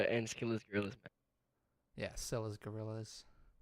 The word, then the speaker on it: Scylla: Teed says Skillas. Other people say Skillas. I'm like, no, it's Scylla. Like, come on, I Priscilla. just, I don't hear anyone say it. I just always pronounce the C.